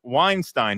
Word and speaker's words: Weinstein: FYI, Eric Weinstein gets very irritated when you pronounce the Steen in his name as Epstein and not as in Einstein. Oh, so Eric Weinstein, he likes to be called.